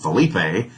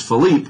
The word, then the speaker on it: Philippe: papen or pap and i knew his first name was philippe i just had intuition it wasn't felipe it's philippe but was it papen or